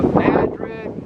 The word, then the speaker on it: Madrid: in madrid new mexico smelled like going to madrid spain but it's not pronounced that way madrid new mexico and back in the